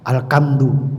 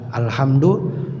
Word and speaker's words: alhamdu: ha bukan k ya kalau pakai e kaha itu karena kebiasaan orang Jawa jadi ha dibaca alkamdu mestinya alhamdu bacanya Al hamdu yang betul adalah alhamdu ya Jadi yang mohon maaf